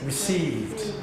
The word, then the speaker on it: received: Received. Received. Received. Received. How do you pronounce this bit? The same. Received. Received. It's not t, d, it's a d sound.